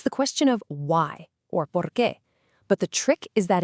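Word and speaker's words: por qué: It's the question of why, or porqué. But the trick is that its answer is just a little bit different. And here is that small but absolutely crucial difference. To ask why, you say porqué.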